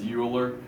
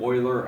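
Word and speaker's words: Euler: is ul's number because EU will give us uler um but if you're over in German or in Europe that would be an Oiler idea um so this is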